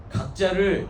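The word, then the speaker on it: 覺: 한자의 그 각자를 보시면, 각자를 두 개로 읽습니다. 깨달을 각, 그리고 깨어날 교, 이렇게 두 개로 읽습니다. 그래서 제가 굳이 깨어남, 깨달음 이렇게 표현을 한 건데, 깨달았다라고 이야기할 때는 그 각이라고 하고, 깨어났다라고 하면 교라고 읽습니다.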